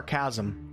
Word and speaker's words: chasm: there is a chasm is it chasm or chasm i honestly heard somebody say it the same i'm doing it right let me let me double check i've heard people say different ways all right chasm says google and we trust google